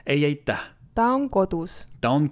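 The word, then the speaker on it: ei aitäh: Ei aita. So you really have to pronounce the H at the end. Ei aita.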